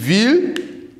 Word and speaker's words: will: So ich will, say it after me, ich will, du willst. Remember, this W is not it's pronounced like a V.